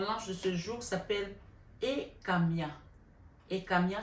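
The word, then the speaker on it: Hekamiah: Donc l'ange de ce jour s'appelle Ekamia. Ekamia s'écrit H-E-K-A-M-I-A-H.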